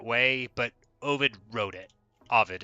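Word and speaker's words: Ovid: but ID wrote it Avid is how to say it I say it the wrong way uh I've said it the wrong way my whole life but um y i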